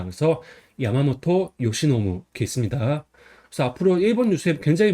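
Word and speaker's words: 山本由伸: 그래서 매산은 야마라고 있고 근본은 보통 모터라고 읽어요. 그다음에 말미암을 유는 요시, 펼는 노부습니다. 그래서 야마모토 요시노무습니다.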